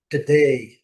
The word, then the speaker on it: today: Today. A gente fala today, né? Tem o né? Today, today. Ok? A sílaba forte é a última.